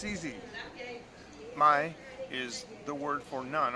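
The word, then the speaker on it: ไม่: dog to somebody you could say this is my pet dog my pet my pet is how you say no spice and ty it's easy my is the word for none or no my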